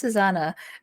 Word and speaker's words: ssnna: twitter is ssnna or it's pronounced susana um because everybody keeps not saying it right um and you can